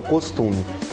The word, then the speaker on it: costume: a ser chamado de costume ah a a a a pronúncia certa é o costume quando você pega só